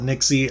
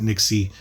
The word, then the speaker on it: NYXI: the Nixie wizard uh it's spelled n y x i I call it Nixie I think that's how I've heard it pronounced but it's a brand